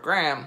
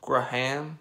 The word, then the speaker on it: Graham: get used to it in the US we basically pronounce this word as Graham GR am i've already had people giving me a hard time for not pronouncing it with kind of like two syllables Graham right ham Graham I don't know sorry